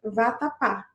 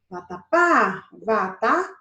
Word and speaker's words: vatapá: passei mais tempo limpar então nós temos uma palavra com a última sílaba sorte aqui é a palavra vatapá vatapá tá você tá na última sílaba nós temos uma palavra oxítona se a sílaba mais